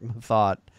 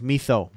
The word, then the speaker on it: Mathot: I know Mark Mathot, the pronunciation is Mathot, but every time I see that, the French in me says Mitho. That should be Mitho. That should be his the pronunciation of his name, but no, it's Mathot.